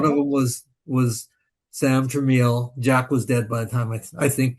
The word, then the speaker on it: Tramiel: The home console division got you know picked up by by the founder of Commodore, the Tramiels.